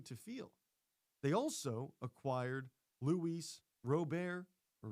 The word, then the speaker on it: Luis Robert: They also acquired Luis Rober or Luis Robert. It's a little debate on how they pronounce the name. Is it Luis Robert or Luis Rober? I hear it both ways.